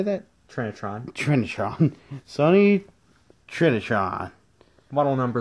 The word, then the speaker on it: Trinitron: for the Sony how do you say that Trinitron Trinitron Sony Trinitron model number is also on